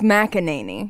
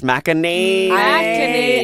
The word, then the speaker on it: McEnany: It's McEnany. It's McEnany. I looked up the pronunciation before I got wow.